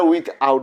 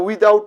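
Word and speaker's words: without: হবে উইথ ইন আর এখানে হবে কি উইথ আউট উইদা আউট তার মানে আমরা উইদাউট বলবো না উইথ আউট উইদাউট এভাবে বলবো না উইথ ইন বলবো না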